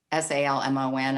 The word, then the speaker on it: Salmon: husband in um matthew s-a-l-m-o-n i know i looked it up and said it's pronounced salmon i don't know the